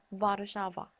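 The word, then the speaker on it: Warszawa: 무는요, 조금 주의하셔야 될 게 영어 W랑 똑같이 생겼지만 폴란드어로는 무 발음이 납니다. 그래서 가장 대표적인 예시로는 와르샤바가 있죠. 와르샤바가 와르샤와가 아니라 와르샤바인 이유가 바로 여기 이 영어로는 W지만 폴란드어로는 무로 읽히기 때문에 와르샤바, 우, 보다, 보다 이렇게 읽힙니다.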